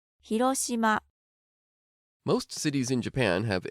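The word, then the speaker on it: 広島: you already know, but let's get the Japanese pronunciation. 広島 Most cities in Japan have a food that is well known and associated with the city.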